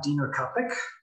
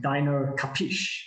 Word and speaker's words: Dino Kapik: I am Dino Kapik. That's how you spell it and how you say it. So almost like Dino Kapish, but Dino Kapik is fine as well.